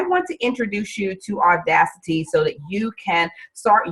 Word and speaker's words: Audacity: All right, and it's spelled just the way it sounds, Audacity, A-U-D-A-C-I-T-Y.